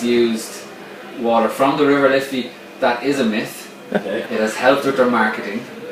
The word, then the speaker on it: Liffey: Yeah, now it's spelled Liffey, so it's pronounced Liffey, but it's actually it was called the River of Life, and it got its name.